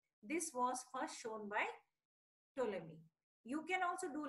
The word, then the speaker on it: Ptolemy: Ptolemy. P is silent. So the spelling is there. You can see on your screen. Ptolemy.